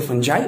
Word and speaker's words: fungi: association between alkyl fungi you can tell fungi also or you can pronunciate funny fungi also either you can say fungi or you can say fungi both are correct both are acceptable so what happens this